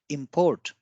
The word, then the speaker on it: import: as a verb, then we give more stress on the I, that is import. And when it is used as noun, we call it import. So the more stress is on O.